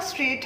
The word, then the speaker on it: strait: अब जो दूसरा straight है वो है STRAIT. Okay, so that is straight. अब ये जो straight है pronunciation is same but meaning इस straight का